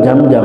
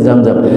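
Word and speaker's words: Zamzam: Kan bukan jam-jam ya, tapi zam-zam gitu kan. Gak bisa ya. Saya akalin lagi apa, akhirnya dapatlah tuh satu. Coba Pak, tadi minuman juga jam-jam, harusnya zam-zam.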